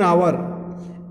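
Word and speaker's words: hour: जैसे देखिए एन आवर, एन हावर नहीं बोला जाता।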